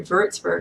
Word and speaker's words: Würzburg: I lived in the Würzburg area, or Würzburg is how it's properly pronounced.